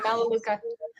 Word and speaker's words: Melaleuca: Yeah, Melaleuca.